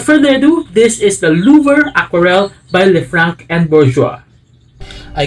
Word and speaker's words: Louvre: By the way, I always hear this word pronounced as Louvre, but when I checked some French clips on YouTube, they said it should be Louvre or Louvre.